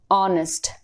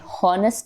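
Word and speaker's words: honest: अब आप बोलोगे कि एच इज अ कॉन्सोनेंट, हाँ कॉन्सोनेंट है एच, लेकिन जब हम इसको प्रोनाउंस करते हैं ऑनेस्ट, ये हॉनेस्ट नहीं होता है, ये ऑनेस्ट होता है।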